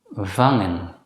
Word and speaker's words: vangen: When the letter combination NG is followed immediately by a vowel, it should normally still be pronounced as n. In such cases, the letter G should not be pronounced as G.